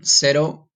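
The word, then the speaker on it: cero: Spanish had a feeling in Spanish zero is felt the same way except it's with the seat okay and said oh is how you say zero sad oh okay so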